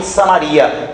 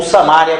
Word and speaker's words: Samaria: Já Reino do Norte, que aí foi por algumas cidades até parar em Samaria, ou Samária, como queira pronunciar, tiveram 20 reis.